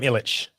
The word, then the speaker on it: Ilic: Is it Ilic or is it Ilic? How do you prefer it pronounced? I've decolonized. I'm Ilic. Are you Tom Ravlic or Tom Ravlic?